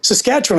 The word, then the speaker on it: Saskatchewan: He goes, Saskatchewan.